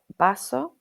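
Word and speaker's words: vaso: Examples are baso meaning glass, bentana meaning window, and bino meaning wine. So, baso, bentana, vino, and that's the letter ube which is often pronounced as a b in Spanish.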